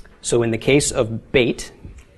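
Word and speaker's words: בית: the case of Beit if it has a doggish it is pronounced as we would pronounce the English letter B but as in boy if it does not have a doggish it will be pronounced as a V okay so with the doggish is be without a doggish is v okay the numerical value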